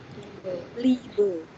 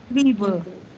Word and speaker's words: Liebe: Ini IE ya, bukan EI. Kalau IE dibacanya I-nya agak panjang. Liebe. Liebe.